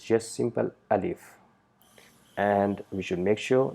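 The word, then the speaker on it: ألف: Points to be noted: alif, we don't need to put any emphasis while pronouncing it. It's just simple alif sound. Don't try to produce sound like a, alif. No, it's just simple alif.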